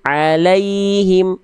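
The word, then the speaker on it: عليهم: Maka jangan dibaca gini Bunda. Alaihim. Alaihim. Tapi alaihim. La ke yanya lembut.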